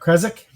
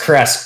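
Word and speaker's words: Krezk: Kresk, whatever you pronounce The way you just said it last, which is more correct than the way I said it. Okay. So it's Kresk, but it's got that German Bavaria, it's got that Transylvanian sounding kind of Kresk.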